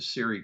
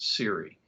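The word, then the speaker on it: SERE: I was actually uh an interrogator for the Siri program and uh back in the Cold War Siri spelled s re and nowadays I hear people pronounce it sir but we pronounced it Siri and uh in those days it stood for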